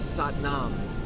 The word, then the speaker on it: Satnam: Another nuance from another culture in Indian yogic society from the Sikhs is Satnam. Sat rhymes with but, Sat, S-A-T, Nam, N-A-M, rhymes with mom.